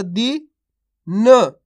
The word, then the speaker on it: दिन: जब भी अपन शब्द पढ़ेंगे तो लास्ट वाला अक्षर का उच्चारण अपन आधा करेंगे, इसी प्रकार से करेंगे जिस प्रकार से अपन ने ना का करा है।